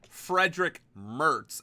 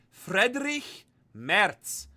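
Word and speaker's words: Friedrich Merz: It's not Frederick Mertz, it's Frederick Merz.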